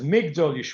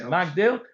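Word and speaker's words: מגדול: normally uh say is magdil but it's it's pronounced Migdal, that's a Korean civ. It's written one way and read a different way.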